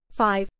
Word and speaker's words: V: over 2010 Overexposed 2012 V pronounced 5 2014 red pill Blues